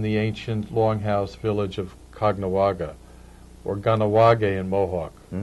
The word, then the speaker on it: Caughnawaga: Well, because the Jesuits set up a mission in the ancient longhouse village of Caughnawaga, or Ganawage in Mohawk. but in Fonda and elsewhere we pronounce it Cognawaga.